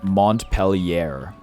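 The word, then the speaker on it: Montpelier: Vermont's pronounced like you imagine an American would pronounce it reading it for the first time. Montpellier.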